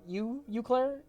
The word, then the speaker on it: Eau Claire: That's pronounced right? Eau Claire?